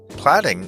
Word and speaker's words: platting: Plotting, by the way, for those who think I'm mispronouncing planning, or maybe even planting, platting is an actual word.